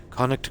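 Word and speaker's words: Connacht: yeah it's like yeah conu no I'll I'll spell it out conu as in um the region there's olster lster monster and and con c o n n a c HT conic gold it's in uh gold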